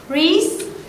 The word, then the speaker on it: wrist: Jadi kayak tadi misalnya ada kata wrist, pergelangan itu tulisannya W or IST. W-nya itu silent.